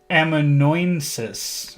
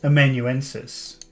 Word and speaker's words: amanuensis: I don't even think I'm pronouncing that properly. Let's see. How do you spell that? Amanuensis. A literary or artistic assistant. Let's see. Amanuensis. Amanuensis. So I was pronouncing it incorrectly.